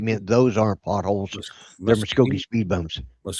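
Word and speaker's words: Muskogee: They're muscogi speed bones.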